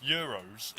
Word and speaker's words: Euros: But it said euro, but I decided to put an S on the end of it, so it's now pronounced. So it'll be pronounced as euros.